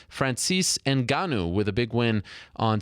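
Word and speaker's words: Ngannou: Gilbert Melendez Francis enanu it's enanu not that hard to pronounce Frances enanu with a big win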